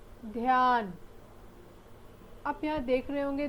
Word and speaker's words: ध्यान: ध जोड़ या जोड़ न, ध्यान। आप यहाँ देख रहे होंगे ध्यान, आधा ध और य यहाँ पर संयुक्त अक्षर है, इसलिए हम ध का उच्चारण आधा कर रहे हैं और य का उच्चारण पूरा कर रहे हैं।